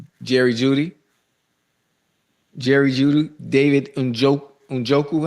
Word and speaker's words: Njoku: David Unjoku. How you say it? Injoku.